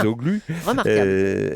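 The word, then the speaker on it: Çavuşoğlu: vous l'avez bien prononcé, non, c'est bien. Cavusoglu.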